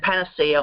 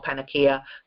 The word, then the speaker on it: Panacea: of the healing process this one's hard to pronounce igly not ugly igly eagly uh the goddess of good health and Panacea or panaka goddess of universal remedy so the original hypocritic